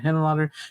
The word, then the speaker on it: Henenlotter: Frank Henenlotter. Is that how you say his name? Yeah, Henenlotter, who also did Frankenhooker and Brain Damage.